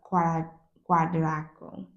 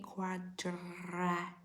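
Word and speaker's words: quadriciclo: When you are on a peninsula or an island, everyone drives a quadraco. It's actually pronounced a quadracico, which is a four-wheeler or a motorbike, a motorcycle, like a motorbike, or some people have cars.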